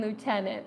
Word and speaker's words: Lieutenant: Archie I love it there is no F in Lieutenant oh my gosh you